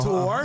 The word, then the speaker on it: tour: Tour. Tour. It's not a two-syllable word. No. Tour.